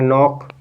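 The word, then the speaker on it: knock: अब यहां पर देखिए इसमें के साइलेंट हो जाएगा इसको पढ़ेंगे नॉक नॉक नौक मींस क्या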